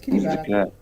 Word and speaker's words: Kiribati: Kiribati, as you pronounce it, is made up of over 30 islands. Yeah, he said Kiribati. Where? What's a Kiribati? It's Kiribati.